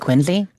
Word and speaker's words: Quincy: it's more like a it's more like quiny when you say it but Quincy is fine yeah you talk to